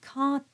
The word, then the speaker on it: quand: So we spoke about the D at the end of the word quand, and it becomes a T, quand il gèle.